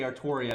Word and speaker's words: Artoria: the fact that uh when they actually pronounce it they always say artoria that's kind of the